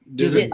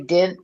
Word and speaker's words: didn't: Didn't. Oh, you say dint, D-I-N-T? No, I say didn't. I pronounce the T, didn't.